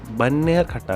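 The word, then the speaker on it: Bannerghatta: बन्नियरघाटा ऐसा प्रतीत होता है, इसका उच्चारण ऐसे किया जाता है, एक प्रकृति शिविर, वहां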